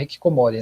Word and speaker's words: hikikomori: E eu queria que você falasse um pouquinho sobre o que é Hikikomori. Eu pronunciei correto? É Hikikomori, né?